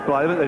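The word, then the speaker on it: Blijlevens: It's B-L-I-J-L-I-E-V-N-S, Blyevans.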